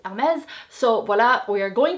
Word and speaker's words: Hermès: But Hermès is a French brand and in French it is pronounced Hermès.